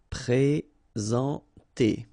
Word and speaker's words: présenter: Okay, remember when we get this accent aigu like that on the top of sorry, then you should pronounce it e. All right, and then you combine the two en nasal en.